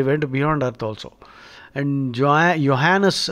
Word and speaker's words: Johannes: And Johannes, the J is silent, you see, J is Yah.